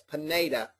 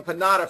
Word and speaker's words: Pineda: Pineda, yes, Pineda. I called him Pinata forever, and then one day after about 2 years, we've been friends, he said, you're saying my name wrong.